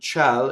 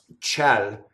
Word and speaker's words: ciel: Notice that the I in ciel is just to make the C soft, because C is a hard vowel. I mean, because the vowel is hard, not the consonant. So A is hard, right? So you need the I to soften the C, right? So ciel sarà.